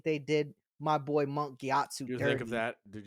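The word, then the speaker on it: Gyatso: mon gatu gatu yeah with a G gatu yes is that how you say it thought it was KATU it's gatu are you sure I'm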